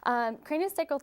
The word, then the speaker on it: craniosacral: Craniosacral therapy is a hands-on approach that works on our connective tissue.